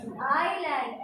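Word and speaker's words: island: ठीक है, इसको लिखते हैं हम इसलैंड, पर बोलते क्या है आइलैंड। एस is silent.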